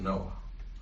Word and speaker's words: Noah: the second main story is the story of Noah, whose name is really Noach. That's how it's pronounced in Hebrew.